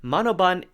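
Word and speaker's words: Manobal: clarification at one point Lisa's last name is spelled with an L but is pronounced with an N now the reason we're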